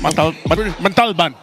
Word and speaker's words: Montalban: Montalban. There you go. I'm pretty sure if you told the driver to go there, he would figure it out. Para po sa Montalban.